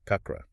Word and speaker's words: chakra: She tells us the original Sanskrit word is kakra, pronounced more like chakra.